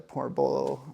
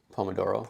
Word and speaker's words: Pomodoro: Or when you take small breaks with the porbolo or pornolo portoolo technique. Pomodoro. Pomodoro. Thank you. I knew I wasn't saying it right.